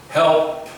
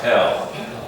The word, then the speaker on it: help: Help. Many times I hear the word, it is pronounced hell, but it's help. There's a slight P at the end. Help. Not hell, help.